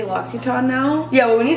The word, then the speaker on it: L'Occitane: That's how I feel whenever I say L'Occitane now. Yeah, well, when you said that yesterday, I'm like, oh, that's how you pronounce it.